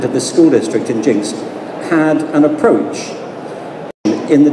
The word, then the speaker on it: Jenks: district called jinkx touchy spell geniux but it's pronounced jinxed just so you know Hector over there they